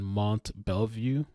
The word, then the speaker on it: Mont Belvieu: goes to the school barbers High School in Mont Belvieu that's how you pronounce it I think it's a little ironic